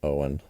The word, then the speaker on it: Eoin: I've always pronounced that name as Owen. Maybe it is Owen.